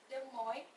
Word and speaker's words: Des Moines: sebenarnya itu normal kok, karena bahkan banyak kok orang yang nggak tahu how to pronounce Iowa, dan jangankan Iowa. Jadi ibu kota Iowa itu adalah Des Moines, cuman ditulisnya itu Des Moines.